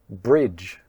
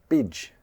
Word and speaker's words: bridge: bridge bridge. Do you say "bidge" "bidge"? there's no meaning! Or "bitch" "bitch"? I hear a lot of native Cantonese speakers mispronounce 'bridge' as 'bitch', so be careful!